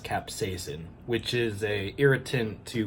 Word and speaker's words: capsaicin: go I don't know it's actually pronounced capsaicin which is a irritant